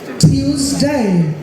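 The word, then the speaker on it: Tuesday: Monday Monday টুয়েসডে নামে কোন উচ্চারণ নেই টিউসডে টিউসডে আর এটা আমেরিকান টিউসডে ওয়েনসডে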